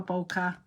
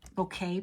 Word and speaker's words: bokeh: Um, in real life, bouquet, pardon me, I keep saying it wrong because 20 years of saying it incorrectly. Hard to break it. Um, bokeh occurs naturally when the